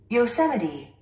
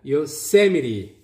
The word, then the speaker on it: Yosemite: Yosemite. Yosemite. Yosemite. Yosemite. Yosemite. 이음질에 스트레스가 오고 있습니다. Yosemite.